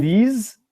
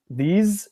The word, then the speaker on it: these: you can pronounce s so in these these it's like a Z sound huh that's something that